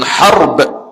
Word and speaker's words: Harb: Laki-laki daripada yakni asalnya salasilahnya daripada zurat abi Sufyan bin Harb. Haraba tu bacanya harb. Ha baris atas. Ra mati ba mati.